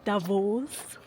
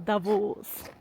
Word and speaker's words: Davos: And just to get something clear, I keep hearing Davos Davos, but it's actually Davos. So if you want to make a good impression, use the accent on the last syllable. So Davos.